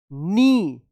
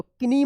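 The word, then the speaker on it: knee: एन G hurting his नी देखिए यहां पे के एन डबल ई तो किनी मत पढ़िएगा इसको क्या पढ़ा जाएगा नी पढ़े जाएगा के एन से पहले के है तो के साइलेंट रहेगा ठीक है देखिए यहां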